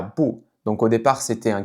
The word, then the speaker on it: 不: Donc encore une fois parce que ici, le verbe "qu" c'est un 4e ton, donc le "bu" qui va être avant va se prononcer avec un 2e ton.